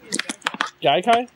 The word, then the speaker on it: Gaikai: How do you pronounce it then? Gaikai?